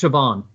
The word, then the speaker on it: Siobhan: So it's Siobhan. Oh, Siobhan. Okay. Siobhan Hannah?